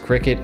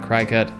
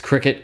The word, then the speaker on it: Cricket: i go yes it is supposed to be pronounced qriket apparently not cry-cut which makes sense i didn't know that before